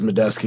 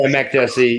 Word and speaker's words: Makdessi: I just butchered his name like 4 times in a row, but that's okay. Yeah, Makdessi. Yeah, you're just rushing through one syllable.